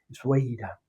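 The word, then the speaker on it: Essaouira: atribuyen poderes mágicos, esa o Uira, que se debe pronunciar muy rápido, como si las vocales casi no existieran en esta palabra, que siempre suena sorpresiva, Sueira, nombre veloz y silbante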